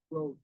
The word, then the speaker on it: brooch: pronounce the word broach, it's spelling it brooch.